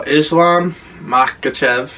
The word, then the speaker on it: Islam Makhachev: So Islam Makhachev, that's how you say it, right?